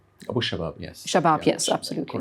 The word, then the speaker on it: Abu Shabab: Please excuse me if I'm not pronouncing it correctly. And then there's the Popular Forces led by Yasser Abu Shahab. Abu Shabab, yes.